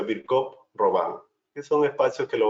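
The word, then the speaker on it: Virchow-Robin: y roban o virch Robin se escribe No pero se pronuncia virc roban que son espacios que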